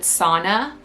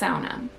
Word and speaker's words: sauna: And in America, a lot of people pronounce it sauna, but in Finnish, it's pronounced sauna.